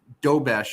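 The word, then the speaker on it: Dobeš: The other goalies that are in the playoffs right now, so they have Jacob Dobesh, I think is how you say his name.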